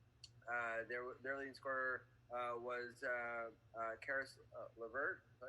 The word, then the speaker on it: LeVert: But for the Nets, their leading scorer was Karis LeVert. Is that how you pronounce it?